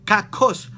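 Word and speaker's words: κακός: En griego es kakos, acento en O, 2K, kakos.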